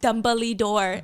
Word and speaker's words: Dumbledore: It's pronounced dumbly door.